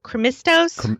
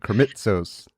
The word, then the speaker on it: Krimitsos: Chris, I always get his last name wrong, but Krimistos. Krimitsos. Hit that T in the middle.